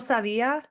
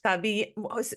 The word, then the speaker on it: sabíamos: nosotros no sabemos, no sabíamos, No sabíamos. no sabíamos. Nosotros no sabíamos, No sabíamos, like you said it the no first time. sabíamos. With the wrong emphasis and the wrong The wrong syllable.